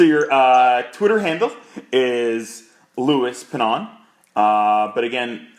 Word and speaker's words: Pannone: So your Twitter handle is Louis Pinon. But again, how you spell it would be LouiPannone.